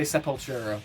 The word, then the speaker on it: Sepultura: supporter or supultra support how do you want to pronounce this ben i i say super talk throw away my tongue there i i say sepultura but i got i